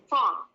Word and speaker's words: fall: Fall. Fall. A tapi dibacanya O yang lebih ke schwa, jadi fall.